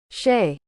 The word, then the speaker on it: shea: one is ba so here's how you say it Shay shea butter is made